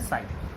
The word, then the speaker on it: chi: ये साई एम है, साई एम, तो पढ़ते हैं साई, और इसको इसकी स्पेलिंग है चाई, CHI लिखते हैं, और इसको पढ़ते हैं साई, प्रोनाउंस करते हैं साई।